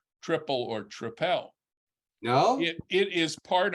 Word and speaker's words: Tripel: me that way otherwise I would have said triple in fact I probably said I'll have a triple when I spoke to him and he then said tripel may maybe he was correcting my pronunciation and not saying which